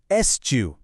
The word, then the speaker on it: eschew: इसे प्रोनाउंस करते हैं एसओ।